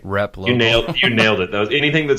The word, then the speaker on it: Replogle: Replogle.